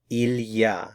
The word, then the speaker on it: il y a: It's the expression ilya. So it's three words il. We put it all together. Ilya. So, ilyah expresses the same idea as there is or there in English. Now, ilyah in French works for